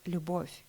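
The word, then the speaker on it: любовь: why it's important because the most important World um word in the world in Russian language starts with the sounds it's the word luboff which means love and you can pronounce it perfectly without any accent which makes us close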